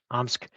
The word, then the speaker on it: Omsk: Did I pronounce that? Right. Omsk Refinery, Sure.